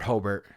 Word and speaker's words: Hobart: It's not Robert Hobbert, it's Robert Hobart.